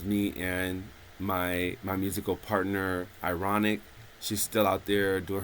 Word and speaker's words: Irawniq: That was me and my musical partner, Ironic. She's still out there doing her thing. That is spelled IRAWNIQ. Ironic, I think.